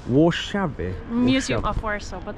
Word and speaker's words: Warszawy: Warszawy. Warszawy.